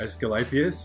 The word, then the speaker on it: Asclepius: One that Pete might be able to help me with pronunciation here, the temple of Asclepius. Asclepius, yes.